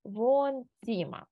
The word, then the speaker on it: Wohnzimmer: Ось тут у нас є літера Г. Читається у нас по літерах В, Г, Н. Ось це Г ми не читаємо, а подовжуємо О. Das Wohnzimmer.